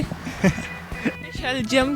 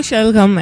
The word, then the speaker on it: शलगम: शलजम क्यों का है? मुझे लगा शायद इसकी प्रोनाउंसिएशन में थोड़ा आता है तो इसलिए। एग्जैक्टली, इसकी प्रोनाउंसिएशन जो करेक्ट है वो शलगम है।